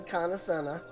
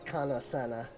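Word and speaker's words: Kan-E-Senna: conveyed to horned one kanasana also i keep saying it wrong it is kana senna and with that i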